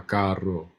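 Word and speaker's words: carro: are stressing so you when you see the Double R um you have to stress because if you don't it's another word so if I say Karo that is it's expensive it's very expensive but if I roll the Double R Caro it's it's more they understand it as two different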